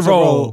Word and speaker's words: Rolle: You're the winner of this week's Esther Rolle Black Excellence Award.